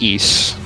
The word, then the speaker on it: Ys: the ring of ease, not to be confused with the title of the game, which is pronounced east. We recently ran our own series marathon of every game in the east series on the RPBT Limit Break channel.